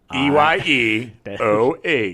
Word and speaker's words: Io: That's why they put at the beginning, they're like, literally, the moon of Io, and then parentheses, EYEOH. Yeah. Yeah. That's how you pronounce it.